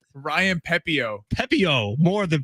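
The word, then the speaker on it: Pepiot: Ryan Pepio.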